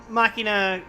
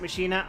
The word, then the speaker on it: machina: my makina some people pronounce it Machina I will kill them because I play Final Fantasy 10 uh and got that